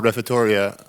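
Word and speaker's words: Refettorio: How do you, with the refettoria, the right word? Yes, perfect. You're the first one who pronounced it for the first time.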